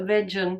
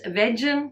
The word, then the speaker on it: vegan: many many years that vegan isn't pronounced a vegen okay maybe that was just me too veggies vegan you learn something new